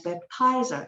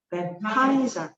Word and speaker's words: baptizer: 액센트가 뒤에 있어야 돼. 같이 baptizer 시작. baptizer.